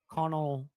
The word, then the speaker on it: Connolly: Connolly.